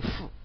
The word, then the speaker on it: 思: 归思，注意这个思念的思在这里就读成思啊，读成思，因为它当名词使用的时候啊我们一般都读第四声归思啊，